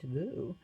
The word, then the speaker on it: Liu: Vietnam a woman named Liu pronounced GU was arrested for attending